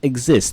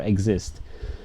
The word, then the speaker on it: exist: So it's exist. Listen to my pronunciation, yeah, for exist. Exist. Not it, yeah. It's ig. Exist.